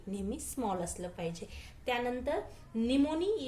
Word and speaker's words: pneumoniae: त्यानंतर निमोनी या शब्दाचं स्पेलिंग व्यवस्थित लर्न करायचं आहे, कारण इथं हा पी सायलेंट आहे. एन पासून तुम्ही याचा उच्चार सुरू करता, परंतु स्पेलिंग पी पासून स्टार्ट होतं, म्हणून याला सायलेंट म्हणतात. पी हा याच्यामध्ये सायलेंट आहे.